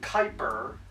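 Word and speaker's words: Kuiper: that hos itable the Kyper belt and yes it's pronounced Kyper it's pronounced like you say viper but with a K with like a k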